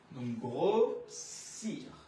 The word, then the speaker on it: grossir: যেমন grossir, grossir, দুইটা এস যখন থাকে উচ্চারণ হবে কি আমাদের স, তো grossir।